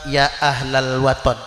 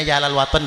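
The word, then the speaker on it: Ya Ahlal Wathon: Ya ahlal waton. Kita kan nyebutnya Yalal Waton nggih, karena pelafalan lagu.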